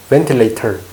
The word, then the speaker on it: ventilator: ventilator, T가 T, ventilator. V 발음할 때 P랑 P는 입술이 닿습니다. 입술이 닿아요. V는 입술이 안 닿습니다.